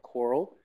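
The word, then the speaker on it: COERLL: name is Carl ble I'm the director of coral that's how we pronounce it it's stands for the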